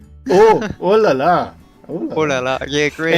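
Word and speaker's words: oh là là: Ooh la la! Oh la la! Oh, I said it wrong. Yeah, it's not ooh, it's oh. Oh la la!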